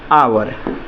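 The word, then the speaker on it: hour: तो शुरू में अगर हम लोग पढ़ रहे हैं, उच्चारण कर रहे हैं, तो ध्वनि आपका कैसा आ रहा है? शुरू में देखिएगा तो अ के बाद आ रहा है, कहने का मतलब अ और औ के बीच में आ रहा है, इसलिए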